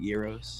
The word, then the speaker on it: gyro: yeah is that what is that how you say it though you know i've been calling it gyro my whole life bro i guess you i get i did it too but i guess we were doing it wrong we